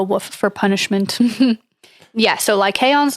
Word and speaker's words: Lycaon: I don't really know how to pronounce it. It's Lycaon. Oh. Lycaon. Lycaon.